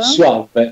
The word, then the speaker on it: Suave: Suave, perché è all'inglese. Tu lo pronunci alla spagnola, ma va bene, lo stesso, tanto esatto.